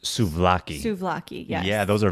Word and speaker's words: souvlaki: Yeah, and I mean, the way you pronounced it, I think it's pronounced souvlaki.